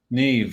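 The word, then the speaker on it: Niamh: yes absolutely there's a few more like NE that's spelled n i m h and Neeve yeah there's also qua qua is c a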